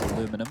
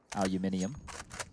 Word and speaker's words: aluminium: true that's for sure aluminum and there's aluminium there's the wrong way and the right way they Chang is spelling those uh those funky Americans said it wrong for so long they changed the dictionary but enough about them